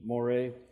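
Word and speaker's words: μωρέ: Aramaic term of insult it's Moray m o r e with an accent on the E Moray and if there's a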